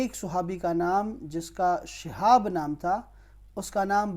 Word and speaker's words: شہاب: اس کا تلفظ یاد رکھیں، شہاب ہے یہ لفظ، شہاب، شین کے نیچے زیر ہے.